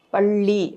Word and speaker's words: பள்ளி: அப்ப பல்லி அப்படின்னு சொல்லுவோம் அதே அந்த நாக்கு மடங்கி அந்த நாக்கினுடைய நுனி மேல போயி சென்டர் நம்ம மேலத்தோட மேல சென்டர்ல போய் டச் பண்ணும்போது பள்ளி அப்படின்னு சொல்லுவோம் சோ அப்ப அந்த நுனி நாக்குக்கு